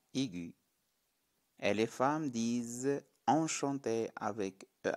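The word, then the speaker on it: enchantée: et les femmes disent enchantés avec eux accent aigu et plus e en ajoutant un final cela se prononce de la même façon enchanté enchanté merci à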